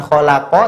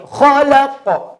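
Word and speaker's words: خلق: Itu hidup semuanya, iqra bismi rabbikal ladzi khalaq. Maka kalau kita membaca, perhatikan, iqra bismi rabbikal ladzi khalaq. Bukan khalaq tapi khalaq. Karena qaf sukun dibaca baqa. Masih ingat, qaf sukun dibaca baqa, maka qafnya harus disukun.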